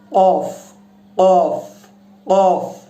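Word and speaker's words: ق: এই কফ যেটা, এটা উচ্চারণ করতে হবে জিহ্বার শেষ অংশ থেকে। দর্শক লক্ষ্য করুন, কফ কফ কফ।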